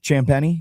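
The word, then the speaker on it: Champagnie: How you say his name? Champeni. Champeni. Yeah. Champeni. Champeni. Like like champagne. But I know it looks like Champagne. That's what throws me off.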